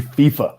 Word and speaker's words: FIFA: don't get mad at us it is actually fifa i was wondering myself dad i wonder if i've been mispronouncing all these years again just so my